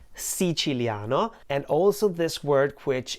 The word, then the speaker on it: Siciliano: in actuality is pronounced si chileano si chileano and also this word which in the song is pronounced as if it had five syllables no should be pronounced with four syllables and the same exact